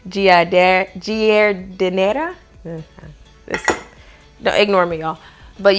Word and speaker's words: giardiniera: Let me see if I can pronounce this right. Giardiniera.